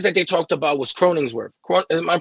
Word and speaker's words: Cronenworth: of the guys that they talked about was cronins worth am I pronouncing that right croning cronenworth yeah and he's an infielder right yeah he